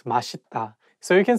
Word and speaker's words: 맛있다: So it's okay because even some Korean people sometimes just by mistake say 맛있다, but actually the correct pronunciation is 맛있다.